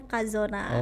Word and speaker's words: Cazona: Tulisannya Cazona tapi bacanya Kazona.